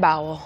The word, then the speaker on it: bowel: I had a very, very bad bowel.